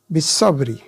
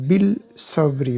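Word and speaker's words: بالصبر: থাকবে ঠিক পরেরটা ওরকম বিসবরি বিসবরি বিল সবরি বলি না বিল সবরি হবে না বিসবরি কারণ সদটাশামস হরফ এজন্য আলিফ লামের উচ্চারণ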